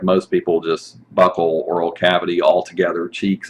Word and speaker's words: buccal: buccal cavity oral cavity some people say bucal or buccal i've heard different pronunciations buckle seems to be the one that is uh considered to be the the most common this is your oral